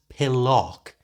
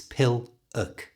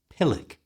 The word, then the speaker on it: pillock: end of this word it's not pillock as you might think because of that o it's piluk pilik you try pilik a what a pill